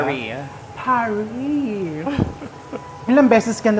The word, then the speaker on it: Paris: ay don't eat that it's not Paris mother it's Paris It's Paris It's Paris pauso It's a technique that I learned in Paris Yes Di ba single s ata ay silent s ata di ba parry parry ilang beses ka